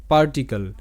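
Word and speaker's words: particle: পরে যেমন আবারও সি এল ই কাল হবে, শব্দের শেষে যুক্ত হবে না, ক্ল হবে না, ক্লি হবে না বা ক্লে এরকমটা হবে না, আর শব্দের শেষে ইটারও উচ্চারণ হবে না।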